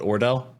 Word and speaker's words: Ordell: And it was towards the end when she was trying to get, I want to say his name was not Odell, but Ordell. Ordell, yes.